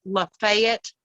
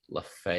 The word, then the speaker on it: Lafayette: So, and the location of that event is Lafayette, Alabama. Lafayette. Also known as Lafayette, Alabama. Oh, Lafayette. It's in Chambers County. But they don't pronounce it French here in Alabama.